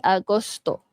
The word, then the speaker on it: agosto: Okey, Agosto ni senang a macam Ogos tapi Agosto.